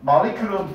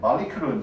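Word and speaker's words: molecule: 그 다음 마리큐르는 분자 단어가 주어졌는데 마리큐르는 필수입니다.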